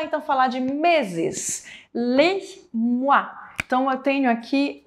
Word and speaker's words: mois: Mas vamos lá então falar de meses “les mois” Ah, então eu tenho aqui “les mois de l’anée” Então O com I tem som de “uá” Esse S eu não vou falar mas É obrigatório escrever,